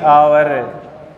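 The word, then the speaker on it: hour: सी has been reading फोर, फोर very good, last to आवर, आवर नहीं है बोलिए आवर, एच चुप है क्या, साइलेंट है।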